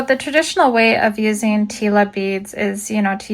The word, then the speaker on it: tila: I used to call them tailas, but I realized the other day after doing a Google search that the the pronunciation is tila.